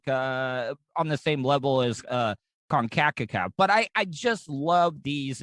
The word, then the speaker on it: CONCACAF: So they had UEFA, and then they just had the American one, which is CONCACAF, which is really That's how you pronounce it. I always wonder how you said that. Yeah, CONCACAF.